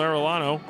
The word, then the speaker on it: Arellano: As Daniel Arellano, was ready for that one. Little thing I learned earlier this week, double L in Argentinian is supposed to be pronounced with an SH sound.